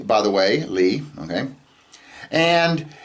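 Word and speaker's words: לי: It's pronounced Li, by the way, Li, okay?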